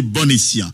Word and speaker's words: bon escient: Prononciation, c'est bon escient. Et c'est ça, me dit, même pour qui ça, même comme un, il dit bon anniversaire, c'est un anniversaire. Bon appétit, c'est un appétit.